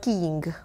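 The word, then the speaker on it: Keeng: But it's not King. You know, not the spelling King, is but King. But it sounds King. Oh, okay. Okay. And King.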